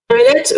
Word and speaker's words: Joëlette: Alors, en fait, Joëlette, vous pensez à Joël. C'est comme une petite Joël.